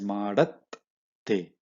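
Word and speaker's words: ಮಾಡತ್ತೆ: You should always pronounce the letter above the baby letter with half matra. Baby letter, even though it looks baby, meaning even though it looks what you call miniature, you still have to pronounce it with full matra along with all the combo, everything. So that's why it's madat te.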